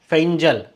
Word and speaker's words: Fengal: अब अगला जो होगा क्या होगा, ये फेंगल नहीं है, देखिए यहाँ पे इसका प्रोनाउंसिएशन क्या दिया गया है, फेंजल, ऐसे।